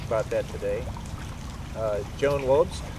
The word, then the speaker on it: Wobst: that today uh Joan Wes pronounced like a V sorry VST V yeah